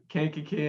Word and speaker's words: Kankakee: Kankakee in Illinois.